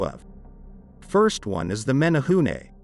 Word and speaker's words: menehune: first one is the menehune kind of pronounced like men a hunei from what i understand